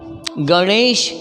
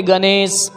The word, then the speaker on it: गणेश: गणेश क्या बोलेगा गणेश क्योंकि इसका उच्चारण होता नो नहीं हो करके मूर्धन्य मुर्दा मैं आपको जीव को टच जुआ को टच करना होगा बोलना होगा गणेश गणेश गुणवान क्या बोलेंगे गुरबाणी